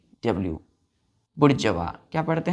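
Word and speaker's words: bourgeois: तो बोलेंगे हम लोग बुर्ज वा इसका प्रोनंसिएशन क्या करते हैं बुर्ज वा क्लियर है तो मेंबर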